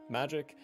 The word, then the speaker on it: Magi: I will always say it wrong, Moggy Labyrinth of Magic. It's either Magi or Moggy. I say Moggy because I refuse to use G's as J's in certain words.